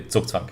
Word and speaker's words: Zugzwang: Okay, in English, yeah, Zugzwang, but in German it would be Zugzwang, yeah.